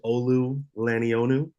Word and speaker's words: Olu Lonu: value uh my name is Olu lonu that's how you pronounce it there you go I'm